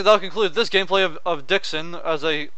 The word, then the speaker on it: Dxun: well let's see I'll conclude this gameplay of Dixon as I say it's pronounced rather than to the Sith Lords 2.0